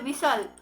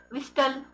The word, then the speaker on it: whistle: So इन सब words में जो टी है, सो इस टी का हम कैसे प्रोनाउंस करते, साइलेंट है ना. सो see here विसल, सो we doesn't say विस्टल, right. It इज कैसल, इट इज नॉट कैस्टल.